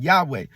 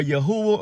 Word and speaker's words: Yahuwah: You've heard some pronounce it Yahweh, but it's really more Yahuwah or Yahweh.